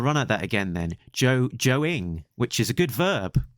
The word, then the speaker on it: Joe Ng: I think it's sort of like ING, but you don't spell the I think. Right, I'll run at that again then. Joe-ing, which is a good verb for drawing a Joe comic.